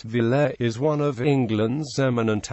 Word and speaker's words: Villiers: The Villiers family, pronounced Villers, is one of England's eminent aristocratic families.